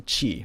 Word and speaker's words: ち: would be T and there is no T sound in Japanese the T sound turns into Chi very much like the